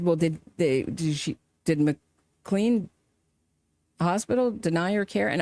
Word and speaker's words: McLean: They pronounce it McLean.